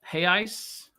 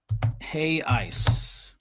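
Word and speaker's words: reais: way it sounds, hey ice, because the R is we don't pronounce the R. So, am I saying that correctly? 53 billion hay ice.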